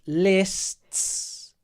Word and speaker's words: lists: know meow meow palavi says how do we pronounce this word lists lists like that Pilates lists so it's lists so what you need to do palavi is